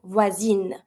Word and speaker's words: voisine: And because I just added my feminine I need to pronounce my letter N because it's just in front of the mute I. So I'm going to pronounce the N, voisine.